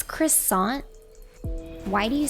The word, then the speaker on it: croissant: This is like this is kind of like when people get a little peeved when I say croissant. They're like, Midna, it's croissant.